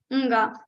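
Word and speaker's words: ङ: For nga, you need Kavarga's letter. The place of Kavarga is Kantha, of course, throat. Along with throat, you also need some vibration in your nose.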